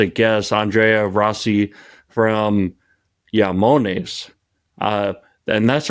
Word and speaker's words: IAMONES: our mutual friend Marco vudi taught me the pronunciation how close did I get it yamon you're perfect and um yeah say it yonis or yamon you can that's the right pronunciation okay so